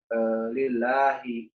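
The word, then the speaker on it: لِلّٰهِ: Kenapa tidak dibaca lillah ataupun Allah? Ini kalau dari segi ilmu tajwid dikatakan tarkik atau tipis, yang mana kalau ada ucapan untuk kata Allah ataupun lafzul zalalah, lafaz pengucapan Allah, dan huruf sebelumnya itu berbaris bawah atau kasroh, maka dia dibaca tipis, ya, lillahi.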